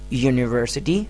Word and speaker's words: university: But the initial sound of university is ya.